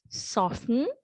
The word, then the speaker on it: soften: often right so here soften often right so we do not pronounce the t right so it's okay